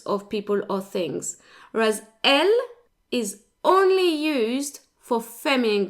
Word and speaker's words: elles: Now, they end in an S, as you can see, but the S is silent, so they're pronounced the same as il and elles in the singular.